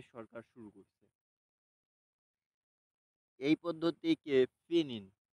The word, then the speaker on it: pinyin: শুরু করছে এই পদ্ধতিকে ফিনিন, PINYIN, ফিন ইন, ফিনিন বলা হয়।